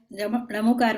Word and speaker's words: णमो: एक तो जो इसमें 2-3 बातें, मैं णमोकार मंत्र की बात कर रहे हैं, तो उच्चारण में एक तो ण बोलने की आदत, न नहीं ण।